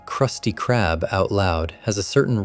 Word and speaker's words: Krusty Krab: The hard K sound is sharper and funnier than a soft C would be. Saying Krusty Krab out loud has a